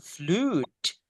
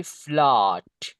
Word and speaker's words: flood: banjir contohnya di sini ingat caranya cara bacanya bukan flute oke but it should be flood that's the correct pronounce al right ok so